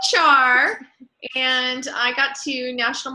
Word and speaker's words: Owchar: My name is Owchar, pronounced Owchar, and I got to National Marketing Director in spring 2014.